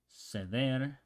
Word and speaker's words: ceder: an I, for example, ceder means to allow somebody else to do it. So you would pronounce it, would be a C and an E. In Spanish from Spain would be ceder, ceder.